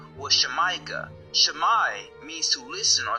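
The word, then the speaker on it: Xamayca: Well just like in Mexico the X is originally pronounced S H. So the original pronunciation was Shemaika.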